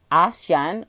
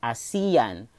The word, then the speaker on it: ASEAN: ashen or as Ian it's actually has two pronunciation like ASEAN or a.cian but for me I would prefer a Seon okay so okay guys